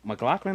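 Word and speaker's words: MacLachlan: is the hidden starring KY mclin is how you say his last name from Twin Peaks yep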